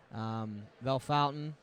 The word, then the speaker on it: Bellefontaine: 51 points so there's a tie there actually Bellefontaine you said it right yeah correct myself sixth